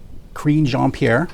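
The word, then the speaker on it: Karine Jean-Pierre: that but the new uh presbytery is um queen jean-pierre yes if i'm pronouncing that right that's right um but yeah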